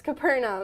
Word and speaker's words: Capernaum: you mean okay I don't know how to pronounce it but what is Capernaum yeah it's Capernaum Oh heard him okay yeah I've had a